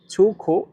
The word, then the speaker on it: 出口: এখানে দেখেন ছুখো ছো এই শব্দটিতে চাইনিজের এক নাম্বার টোন ব্যবহার করা হয়েছে। আর এক নাম্বার টোন উচ্চারণের নিয়ম হচ্ছে সোজা লম্বাভাবে বলতে হয়। ছু তারপরে দেখেন খ এটা অনেকটা মুখের মত গোল আকৃতি খ এটাতে চাইনিজের তিন নাম্বার টোন ব্যবহার করা হয়েছে আর তিন নাম্বার টোন উচ্চারণের নিয়ম হচ্ছে উপর থেকে নিচে আবার নিচ থেকে উপরে খো ছুখ ছোখ ছোখ